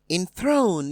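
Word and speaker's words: enthrone: on the first syllable in throne is stressed on the second syllable matron is stressed on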